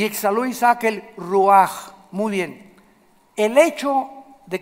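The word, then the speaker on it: רוח: esta palabra espíritu es ruach así se escribe ruch se pronuncia en el hebreo la ch como jota y ex a Luisa que el ruaj muy bien el hecho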